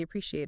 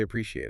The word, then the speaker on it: appreciate: It is not three syllables, it's four.